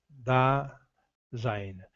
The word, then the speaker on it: Dasein: Dasein, pronúncia alemã, Dasein.